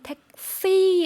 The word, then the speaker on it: แท็กซี่: แท็กซี่ 전 세계에 있고 발음도 거의 비슷한데 중요한 점은 태국어에서는 성조가 있다라는 점입니다. 그래서 한국어로는 뭐 택시 이렇게 이야기하겠지만 태국어에서는 택시 하고 뒷부분을 올렸다 내려준다는 거 구분해 주시고요.